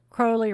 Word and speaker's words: Crowley: Crowley rhymes with slow.